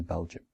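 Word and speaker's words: België: come even after that finally we pronounce belgium and not belgi because there's two dots on the e now let's see some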